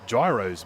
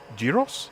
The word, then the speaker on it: gyros: Is it pronounced gyros? Gyros? Because that looks to me, it's like it's spelt gyros, but I'm assuming it's probably like gyros.